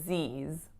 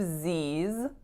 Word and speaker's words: Z's: for the pronunciation of Z's usually it'll be spelt like Z apostrophe s but that final s in fact makes another Z sound so think about it